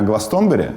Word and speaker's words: Glastonbury: It think it's Glastonbury. - What? - Stress on first syllable. - So Glastonbury?